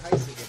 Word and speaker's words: Heisiger: I didn't say Heisiger, but I've seen EI pronounced I, like a long I.